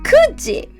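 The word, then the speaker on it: 九時: We pronounce it 9時.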